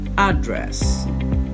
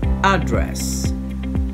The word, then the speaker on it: address: on the first syllable in the u.s the stress on the word will change depending on whether it's a noun or a verb if it is a noun address if it is a